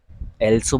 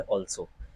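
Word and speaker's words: also: आ, कुछ लोग इसे क्या बोल देते हैं, कुछ लोग एल्सो बोल देते हैं, कुछ लोग आल्सो बोल देते हैं, बट ना तो ये एल्सो है और ना ही आल्सो है। ये है, इस शब्द का जो सही उच्चारण है वो है ऑल्सो। क्या है? ऑल्सो।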